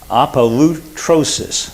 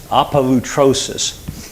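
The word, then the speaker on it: ἀπολύτρωσις: The word redemption, this is a multi-syllable Greek word, and I'm going to try to pronounce it for you. Apolutrosis. Apolutrosis.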